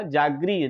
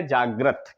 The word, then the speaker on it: जागृत: का प्रयोग हमने किया क्योंकि हमने बोला क्या? जागृत। क्या बोला? जागरी। री निकला हमारे उच्चारण में तो हमने री लगा दिया। और अगर हमने सही प्रोनाउंसिएशन किया जागृत, क्या किया? जागृत। तो ये वाला जो है आपका क्या है? सही है और ये क्या है आपका? गलत है आपका।